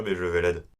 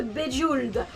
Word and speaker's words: Bejeweled: Mais moi je disais c'est faux parce que ça se prononce pas Bejeveled. Bref, l'écologie, la lune, l'amitié, la sagesse, la subtilité, les dessins agréables, l'implicites, la musique de Bejeweled, les messages, la poésie,